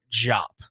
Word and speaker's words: Diop: wants to know I I have been told it's matar jop so in the in the program that you have it has jope it says like like hope